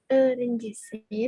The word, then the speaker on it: öğrencisin: Ketika kita ngomong E dengan titik 2, lidahnya menempel dengan gigi bawah dengan E. Jadi nerede renjisin. Boleh diulang Ablah? Nerede renjisin. Nerede öğrencisin.